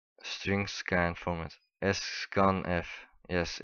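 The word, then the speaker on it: sscanf: the extension and scan uh s how to pronounce it s string scan format s scan F yes it's like that but so if you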